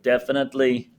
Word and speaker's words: definitely: So def fan at lee. 4 syllables. Definitely.